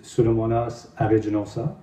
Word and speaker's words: Pseudomonas aeruginosa: Pseudomonas aeruginosa. C'est comme ça qu'il faut le prononcer.